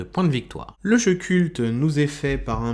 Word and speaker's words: CVLT: Aujourd'hui, on se parle de culte. Analyse, avis, questions d'actualité, c'est le podcast du Labo des Jeux. Alors, Culte, qui s'écrit C-V-L-T, est un jeu de